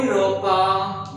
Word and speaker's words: Europa: The third type of double vowel, AU or A with umlaut U. It is pronounced as oi. For example, Europa means Europe.